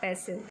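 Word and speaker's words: pestle: इसमें जो टी है वो क्या है, साइलेंट है, तो इसलिए टी का साउंड नहीं आएगा, पैसिल।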